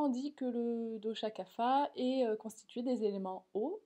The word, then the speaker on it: Kapha: Et enfin, le dosha Kapha, en Inde on prononce plutôt Kapha, correspond à l'élément eau, et le mot kapha signifie littéralement ce qui relie les choses entre elles.